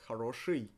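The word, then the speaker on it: хорошо: and it's for a good reason it is pronounced haroshi with and not e however there is e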